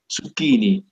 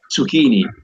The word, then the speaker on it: zucchini: And we tend with pronounce with a double C like consonant, zucchini. In British, in American, zucchini. No, you tend to not pronounce the double consonant.